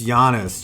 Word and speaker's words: Giannis: I know it's Giannis.